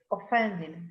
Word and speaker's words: offended: You weren't offended by what I said, were you? Yes, actually I was. That's yours, darling. Just for me. You are offended. So, it is stressed on the second syllable.